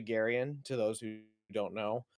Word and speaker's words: Garian: But given that my first name is actually Garian, to those who don't